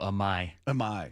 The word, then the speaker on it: Imai: Oh, Amai.